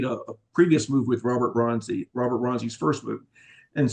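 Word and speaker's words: Robert Bronzi: Is it Robert Bronzy?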